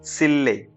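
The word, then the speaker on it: 실내: तो क्या हो जाता है, जैसे कि यहाँ पे क्या लिखा हुआ है, सिल ने लिखा हुआ है, लेकिन जब हम इसको बोलेंगे तो हम इसे क्या प्रोनाउंस करेंगे, इसे सिल्ले।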